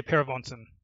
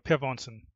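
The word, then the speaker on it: Per Vognsen: Uh Uh just say Pair of Vons. Or Pair of Vons, which is normally what Americans say, and I'm perfectly fine with that pronunciation.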